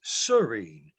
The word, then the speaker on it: Cyrene: bill and sherm that's the first word pronounced is serene as in calm peaceful and untroubled tranquil i think that would